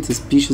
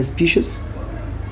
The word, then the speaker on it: species: على فكرة يا جماعة كلمة species ديت لها نطقين, ممكن أقول عليها species double British, ممكن أقول عليها species double American.